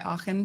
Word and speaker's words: Achen: my name as Aken she really insisted that I go by aen so I'm you know